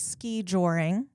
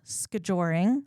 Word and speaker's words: skijoring: I do have a question because I've always said ski joring. You're saying skijoring, right? As like one word. Is that the correct way to say it? Is as one word, skijoring? Is that? You say skijoring, I say ski joring. Okay, yeah. I think it's okay either way.